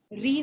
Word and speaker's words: reign: Robespierre region is referred to as the region of terror in the history of French Revolution. रीन है बेटा, वो reason नहीं है। ठीक है, रीन है, REI, G इसमें साइलेंट।